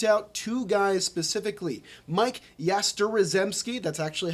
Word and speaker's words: Yastrzemski: Mike Yastrzemski, that's actually how you pronounce it.